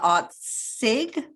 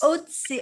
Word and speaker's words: Otzig: And I'm going to introduce Otzig. Did I pronounce that correctly? Otzig, as in oats. Otzig.